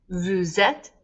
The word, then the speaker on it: vous êtes: Vous êtes gets the liaison, that S before a vowel.